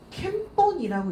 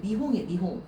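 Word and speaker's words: 見本: 얘는 캠본이라고 읽으시면 안 돼요. 미홍이에요. 미홍.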